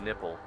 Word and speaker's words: Nepal: Ladies and gentlemen, welcome to Lukla, Nepal, or as they pronounce it here, Lukla Nipple. It's spelled N-E-P-A-L, so that's how the locals pronounce this country.